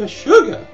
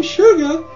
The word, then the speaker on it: Shugah: The name Shugah is the way people in the South pronounce the word sugar, which of course is a sweet crystalline carbohydrate obtained from the juice of various plants.